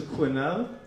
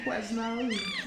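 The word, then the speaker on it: Quesnel: to quinel I only I've only ever seen the town's name written you know so till I got here and somebody pronounced it properly I kept seeing yeah we're playing in qu now you know and BC qu and people stare looked at me blankly but uh the uh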